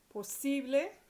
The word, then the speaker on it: posible: Posible, the stress is on the C, posible.